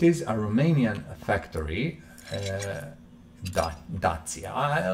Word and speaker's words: Dacia: factory uh datsia i let's call it dacha as i would uh call it i think that's uh the proper pronunciation um or i think british english americans would say dacia or datsia or whatever uh this car